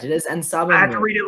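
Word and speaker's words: En Sabah Nur: Did I pronounce that right, Robert? Yes, that was correct. It is Ensabanur.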